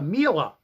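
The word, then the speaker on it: Miele: I had a a MA rhymes with Sheila vacuum cleaner came in and the cord winder got pulled out.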